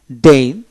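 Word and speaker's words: deign: ডিজাইনার ডিজাইনিং তারপরে ডন ডিই ই আই এন ডেইন জি উচ্চার হলো না তারপরে এসাইন এ এস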